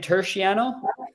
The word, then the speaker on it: Turchiano: Is your last name Turchiano?